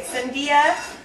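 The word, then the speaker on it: sandía: I the flavor of choice at our house is it's Is it Sandia? Is that how you say it? Yeah. Okay. Sandia with chili.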